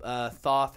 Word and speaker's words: Thoth: my man is gonna lift up Thoth and or Thoth however you want to say his name and we're gonna show